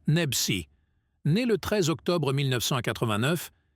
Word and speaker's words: Nebchi: Slimane Nebchi, prononciation française, Slimane Nebsi, né le 13 octobre 1989, est un célèbre chanteur et auteur-compositeur français.